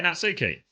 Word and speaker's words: Natsuki: Does the player pronounce his name as Natsuki? Yeah, Natsuki.